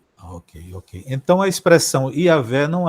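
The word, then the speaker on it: Yahweh: mais próxima do original a pronúncia mais próxima do original seja yavé Porque existe essas diferentes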